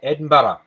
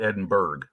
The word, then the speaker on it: Edinburgh: It's like listening to people trying to say Edinburgh. You know, for the longest time, I called it Edinburgh until Edinburgh.